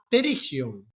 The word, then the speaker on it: pterigión: El nombre se llama Terigion con pe que nadie pronuncia cuando vas al psicólogo.